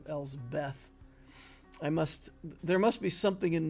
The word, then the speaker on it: Elsbeth: Whenever I say her name, I feel like, for some reason, I always want to say Elspeth instead of Elsbeth.